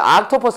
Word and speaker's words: octopus: 이거 그냥 대놓고 Octopus로 읽으면 안 돼요. Octopus 아니야. 이거 OS IS 오하는 거예요. Octopus. Octopus. 아 발음도 아니고 오 발음도 아니야.